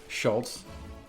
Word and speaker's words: Schulz: way is Schulz. Schulz. Schulz. Schulz. Trying to tell you that. And I'm like, where's the T that you're pronouncing? Is it silent?